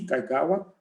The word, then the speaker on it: Kaigawa: Começaríamos, então, pela presidente da Comissão de Propriedade Intelectual da OAB de São Paulo, Kaigawa. É assim que se pronuncia?